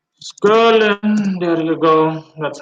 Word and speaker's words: Scirlin: So yeah, Skirlin. Skirlin, there you go. That's how his name is pronounced.